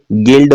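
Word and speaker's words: guild: होता है इसमें देखिएगा यू के बाद आई है बोलते क्या है गिल्ड बोलते हैं यू इसके अंदर साइलेंट है इसमें देखिएगा यू के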